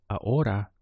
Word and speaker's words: ahora: now is uh hora notice that we skipped over the H in our pronunciation going from aa to